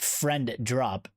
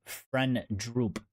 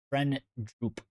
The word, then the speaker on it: Frendrup: Not friend drop, friend droop. You know, my American accent, FRENDRUP, friend droop, droop.